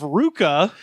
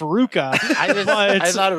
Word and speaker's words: RVCA: and the founder of Ruka which is that RVCA that oh really yeah yes supposedly apparently it's pronounced Ruka it's like churches yes